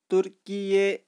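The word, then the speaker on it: Türkiye: तुर्की will know B officially known as तुर्की, ये इसको हम प्रोनाउंसिएशन करेंगे तुर्की ये, और इसकी स्पेलिंग होगी अब टी यू आर के आई वाई, और प्रोनाउंसिएशन है इसकी तुर्की ये.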